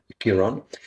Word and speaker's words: Chiron: And I noticed that Chiron, is that how you pronounce Chiron it? in English. Chiron. Chiron in English.